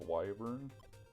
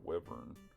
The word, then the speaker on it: wyvern: like trolls WS or apparently it's pronounced wyvern but I've always said wver so uh just take